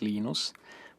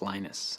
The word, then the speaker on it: Linus: genius speak Finnish it's Lino's when I speak English its Linus and I really don't